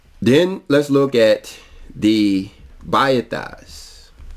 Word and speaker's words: Bet: let's look at the Bas a lot of people pronounce them Beth but when you look at it it's actually B the importance to understanding